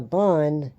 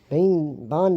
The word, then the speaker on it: Ban: So, Bond doesn't look good. Why do I keep calling him Bane? 'Cause it's spelled B-A-N. That's why it's tripping me up.